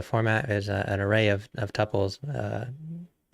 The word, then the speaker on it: tuple: an array or a tuple Tuple somebody on the internet corrected me so now I say it right Tuple how much vram was